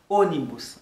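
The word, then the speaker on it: ônibus: Puis il y a un mot qui a un accent circonflexe sur lui, qui c'est O, les ça la prononcer comme un O léger. Par exemple, onibus, c'est un mot ça qui signifie bus, ok?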